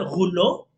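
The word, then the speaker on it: rouleaux: Se escribe roleaux, se interpreta, se lee, se pronuncia gulo, que proviene del francés que significa rollos.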